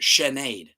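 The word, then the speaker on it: Sinéad: Maybe one of them might play, it's pronounced Sinead. Like grenade.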